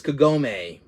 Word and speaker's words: Kagome: that's her name yeah Kagome that's her name I pronounced it properly I pronounced it wrong earlier it's Kagome I found two figures